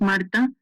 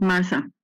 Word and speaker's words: Marta: Yes, my name is Marta, not Martha. Marta, no H.